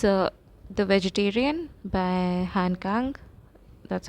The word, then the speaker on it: Han Kang: It's uh the vegetarian by Han Kang. That's how you pronounce it.